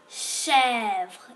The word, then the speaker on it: chèvre: La chèvre. Ici aussi, il y a le CH, ch, et le accent grave. Alors, ça se prononce E. Alors, chèvre. Alors, accent grave. La chèvre.